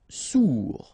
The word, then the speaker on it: sourd: Sourd, final D not pronounced, O-U together, ou, sourd.